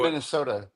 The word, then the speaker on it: Minnesota: all right been to Minnesota it's cold I think that it's a long o David it's a long o it's Minnesota oh Minnesota yeah there